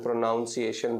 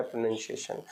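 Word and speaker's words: pronunciation: ही पढ़ लेते हैं प्रोनाउंस एशन पढ़ते हैं बट ये प्रोनाउंस नहीं होता है गाइस ये होता है प्रोनंसिएशन क्योंकि इंग्लिश बोलने के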